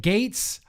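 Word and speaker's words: Gaetz: uh southern comfort matt goetz yeah also republican from florida gates but oh is it gates i'm sorry matt gates i've been saying your name wrong uh yeah republican and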